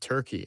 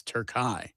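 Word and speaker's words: Türkiye: Well, also I was going to say the next game after after Australia for for team USA is not Turkey, it's Turkai. Okay. I was pronouncing it wrong.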